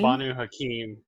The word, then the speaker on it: Banu Hakim: Banu Hakim. That's how you pronounce it.